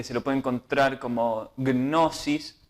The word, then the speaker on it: Gnosis: Vamos a ver ahora un primer fragmento elegido de un documental que se lo puede encontrar como Gnosis, se escribe así, la G, Gnosis, significa conocimiento, que dice Gnosis, el cristianismo esotérico.